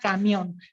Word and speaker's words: camión: las palabras agudas con la palabra camión se acentúan en la última sílaba porque yo siempre aprendí que camión iba a hablar el acento recaína en la sílaba final entonces estas van a